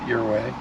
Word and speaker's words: Ouray: Okay, so just had a really good omelet in Ouray, and that is the correct way to pronounce it, Ouray, which means arrow in Indian.